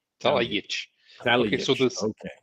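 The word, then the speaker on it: Talajić: It's pronounced ts, So, but because it has the accent, it becomes ch.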